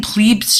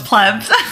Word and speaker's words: pleb: forever way before electricity plees I keep saying plees chain we're GNA have to talk about that later because I don't really understand what that is it's a pleb oh it's pleb I'm not even pronouncing it right um and